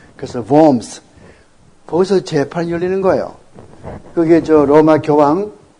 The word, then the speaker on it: Worms: 이 보험성, 독일 말에 W는 어떻게 발음합니까? 항상 영어의 V자처럼 발음하죠. 그래서 worms.